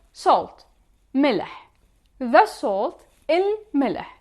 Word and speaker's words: الملح: The salt, الملح. Notice here that we are pronouncing il. We are pronouncing e and a lam and the mim one time. الملح.